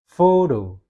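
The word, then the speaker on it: photo: Fodo. Fodo. Oke. Jadi yang lebih tekankan adalah fo ya.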